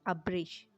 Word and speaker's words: ابرش: آپ کو ضرور پسند آئیں گے۔ نام ہے ابرش۔ ابرش کے معنی ہیں پانی کی طرح تیز بہنا۔ سپیلنگ ہے ABRISH۔ نام ہے آئرہ، AIRA، آئرہ۔